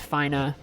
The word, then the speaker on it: Fina: Fina Focus damn it technically it's pronounced Fina but that's dumb it's Fina they're not doing I